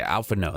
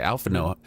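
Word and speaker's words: Alphinaud: no i just think it's as if it ends with the u instead of the d and i only know that because they've said it a lot in the game so i'm stealing their pronunciation i think it's supposed to be french or of the french dialect okay alpha no that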